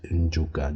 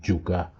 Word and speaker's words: Njuka: The plantation Negro of the city, they cannot pronounce Njuka. They will say Juka.